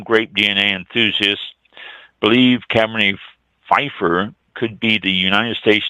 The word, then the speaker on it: Pfeffer: Students at California Wine History found that Cabernet Pfeffer, P-F-E-F-F-E-R, Cabernet Pfeffer, I would assume the P is silent.